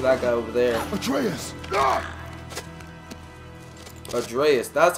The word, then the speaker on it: Atreus: Atreus, that's how you pronounce his name.